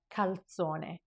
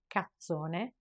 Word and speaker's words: calzone: There is an L followed by a Z. Calzone. And you gotta make sure you pronounce both of these consonants and you don't just drop one and double the sound of the other. Because if you drop the L and you pronounce the Z as a double Z, then you're left saying cazzone, and that is a big cuss word.